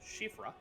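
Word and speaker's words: Siofra: The Shifra, because I learned recently that is an Irish word, pronounced Shifra.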